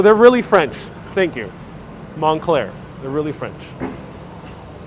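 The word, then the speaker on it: Moncler: this way four blocks this way very close monacler that's montclair that's how you pronounce it montclair it doesn't look like it's spelled montclair are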